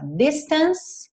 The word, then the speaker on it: distance: Mas para te relembrar, olha só, distance termina na letra E, mas a letra E não é pronunciada. Então você repara que o último som dessa palavra fica sendo que é o som da letra C aqui, the distance.